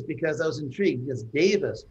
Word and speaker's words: Davis: And I actually picked this because I was intrigued, because Davis, pronounced just like that, means God in Sanskrit.